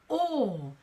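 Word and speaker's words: awe: given us another word which is all aw e is spelt all and that's also where the word awful comes from all so it's quite easy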